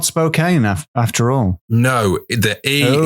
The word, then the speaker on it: Spokane: books by kindly listener from spocket no I've got it wrong already we're going to be talking about the East Washington city of Spokane Spokane that's how it's pronounced oh it's not Spokane after all no the